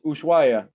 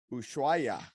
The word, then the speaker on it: Ushuaia: it right ushua it's ushuaia ushuaya yeah actually uh down here they don't say the h is usual usually argentina yeah